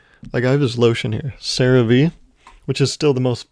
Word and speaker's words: CeraVe: got this lotion here cerave which is still the most funny name to me ever because it's spelled like this but it sounds like sarah v like someone's name cerave there was a sarah